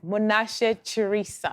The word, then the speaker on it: Munashe Chirisa: honey and tonight we are privileged to have monash charissa am i saying it right ah uh no